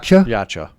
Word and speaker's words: Yautja: That's Hey, you're Hey, new new yata. Am I saying it right? Yacha yachcha.